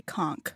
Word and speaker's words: conch: is it contra conch in the bahamas they say conk oh okay they have a lot of the shells there so i would trust them to know how it's pronounced yes i would do that as well i'm just going to google ah google says konk it's funny they've phonetically